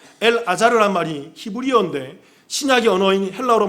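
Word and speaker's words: אלעזר: 히브리어 발음으로 얘기하면 이건 엘 아자르라는 말이에요. 엘 아자르라는 말이 히브리어인데 신약의 언어인 헬라어로 말하면 나자로스, 나자로라고 얘기한다고요.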